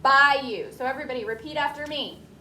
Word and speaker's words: bayou: Now that word looks like bayou, but you say it bayou.